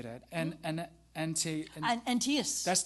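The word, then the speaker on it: Antaeus: And and antias that's the one.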